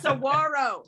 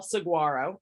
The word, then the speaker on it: saguaro: a 27 foot tall saguaro or saguaro i think is how you say it and didn't even finish